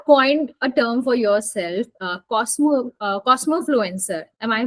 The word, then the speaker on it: cosmofluencer: So you have coined a term for yourself, cosmofluencer. Am I pronouncing it right?